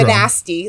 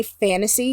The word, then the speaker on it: Fantasy: No, it is quite pronounced literally Fantasy it is. Finder. It is pronounced fantasy, not spelled fanasty, like some people like to say.